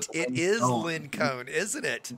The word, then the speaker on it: LinkOne: Everybody says his name wrong. If you look at it, it's actually supposed to be Lin Cone.